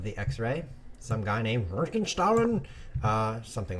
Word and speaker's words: Röntgenstrahlen: But we did learn X-ray in German is pronounced Röntgenstrahlen. Röntgenstrahlen.